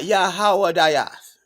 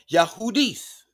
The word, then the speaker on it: Yahudis: Not Yahawadias. Yahudis is the transliteration, and the pronunciation is Yahudis. The phonetic spelling is Yahudis, right?